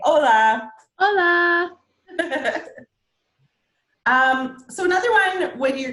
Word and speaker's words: hola: and so yeah it means hello it's not pronounced Ola which is very HSN Spanish art completely silent so we want to make sure that we say hola so another one when you're gonna be meeting